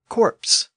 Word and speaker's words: corpse: in Middle English and over time people started to pronounce the p in this version of the word even though it had been silent up to this point the result was the word corpse c r p e